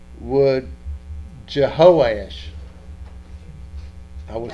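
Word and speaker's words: Jehoash: you pronounce that josh i would pronounce it based on the hebrew would jehoesh i would say you know instead of just joe as i'd say je ho ash i would pronounce h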